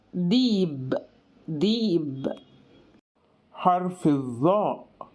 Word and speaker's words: ذئب: المصريين ذكي ذكي ذكي وذئب بينطقها المصريين ديب ديب حرف الظاء بينطق